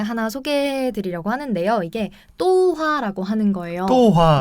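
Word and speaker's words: 豆花: 그 뭐 또화 이렇게 해야 되나요? 어떻게 네, 발음해야 맞아요. 되나요? 이게 사성일성이어서 또화라고 합니다.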